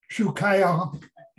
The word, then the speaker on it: Tchoukaillon: title of my talk i don't pronounce properly in french but it's it's something like shukya and it's it it's